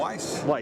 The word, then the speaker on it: Weis: Especially your books that you wrote with Margaret Weiss, or is it Weiss? Did I mispronounce? No, Weiss.